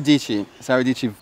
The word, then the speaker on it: Dietschy: Sarah Dici, tech YouTuber. Dici, like peachy. Dici rhymes with peachy.